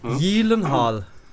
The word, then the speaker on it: Gyllenhaal: Gyllenhaal. Der ist ein Schwede. Das G spricht nicht aus, der heißt Jake Gyllenhaal eigentlich.